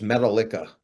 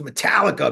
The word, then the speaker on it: Metallica: this band I'm like who's metala he goes no it's pronounced Metallica man I'm like all right